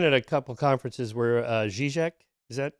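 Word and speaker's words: Žižek: I've been at a couple conferences where Zizek, is that how you say his name? Yeah, was Zizek, yeah.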